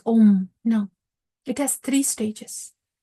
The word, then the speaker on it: Om: word AAR Brahma om it has three syllables a m it's not just the a that comes through the oral cords om no it has three